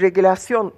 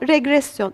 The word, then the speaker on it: regresyon: Bu bir regülasyon tekniği. Evet. Değil mi? Evet. Evet. Doğru mu telaffuz ettim? Regresyon. Evet. Regresyon. Böyle yapmakta büyük yarar var.